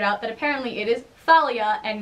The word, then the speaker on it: Thalia: for like 5 years it's Thalia apparently I'm still saying Talia I can't bring myself to say Thalia it doesn't sound right yeah so far that's